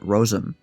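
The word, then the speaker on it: rosin: of the fiddling country rosen is pronounced much as if spelled rosem the fiddlers who participate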